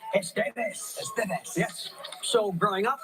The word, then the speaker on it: Estevez: Please welcome back the very talented Emilio Estevez. You said it right. You said it right. Estevez.